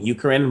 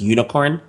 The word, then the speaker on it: Unikrn: And I also just noticed that I've been calling it Ukraine, but I guess it's pronounced unicorn or something like that.